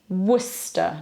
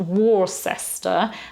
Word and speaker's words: Worcester: at all it's Sinjin then the city Worcester not war sester and it's certainly not Worcestershire sauce awesome makes me sound all they're all Devonshire or Somerset there so it's not war sester it's Worcester and Worcestershire then we don't have